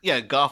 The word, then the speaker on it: Goff: I think it's Goff like cough, but I keep calling him Michael Go myself at the time.